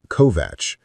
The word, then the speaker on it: Kovač: He pronounced it correctly. Kovatch, which surprised her.